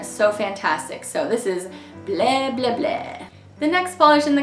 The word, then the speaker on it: Bleh, Bleh, Bleh: the polish is that it's called Bleh, Bleh, Bleh, and you kind of have to say it like that. This polish is inspired by Drac from Hotel Transylvania, and you know how he's always like, I don't say blah, blah, blah.